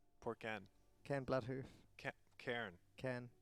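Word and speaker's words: Cairne: Oh, Ken. Poor Ken. Ken Bloodhoof. Cairn. Ken. Was I saying his name wrong? Ken? It's like a hard air. Ken. You're saying air. Cairn. Yeah.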